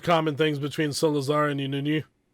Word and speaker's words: İnönü: But you find lots of common things between Salazar and Inunu. How am I doing on the pronunciation?